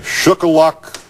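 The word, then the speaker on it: Shuqualak: let me pronounce to see if i can pronounce this the correct way shook a lock mississippi i hope that's right doug are you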